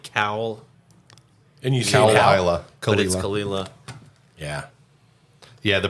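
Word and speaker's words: Caol Ila: so it it looks like cow and you kalila yeah yeah the pronunciation is half the fun with this stuff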